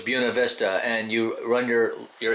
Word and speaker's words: Buena Vista: we're in Buena Vista how do you pronounce that actually around here they say Buena Vista I was corrected on my channel it's Buena Vista so it's Buena Vista and you run your